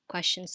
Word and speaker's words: question: We all ask questions to our teachers. So the question has the final syllable shin.